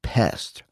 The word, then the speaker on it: PESD: it practical emotional self-defense or pesd pronounced out loud it's pest which really underlines who we're